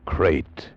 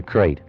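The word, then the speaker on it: krait: Tonight, we escape to India, and the story of a man trapped in his bed by a crate, the most deadly, poisonous snake in the world, as Roald Dahl tells it in his terrifying story, Poison.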